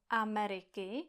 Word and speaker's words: Ameriky: #1: the word AMERIKY has 4 vowels, 4 syllables, and we must pronounce all of them.